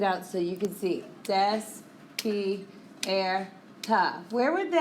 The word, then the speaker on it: despierta: Despierta. So you move backwards, second to last syllable, and the accent goes on the vowel in the second to last syllable.